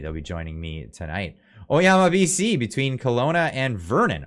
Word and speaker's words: Oyama: um the the kanji for that also is pronounced son yo Yama yoyoma yoyoma am I reading it wrong no it's oyama uh yoyoma oama is just North of Lake